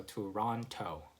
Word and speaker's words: Toronto: you just add that toe and the last syllable. So Toronto, and that would be the other way of saying it. A lot of my American friends would just call it Toronto.